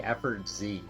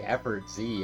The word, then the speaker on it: Effortz: But it's just, it's like efforts, but instead of an S, it's a Z. I just think it's harder, it would make it harder to pronounce if you had to say Effort Z every time.